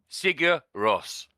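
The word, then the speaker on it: Sigur Rós: R there you go so you pronounce it sear Ross so they're like an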